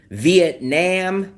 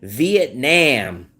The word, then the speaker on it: Vietnam: So I understand Vietnam is spelled N-A-M, Nam, but it's not pronounced Nam. It's pronounced Nom, N-O-M.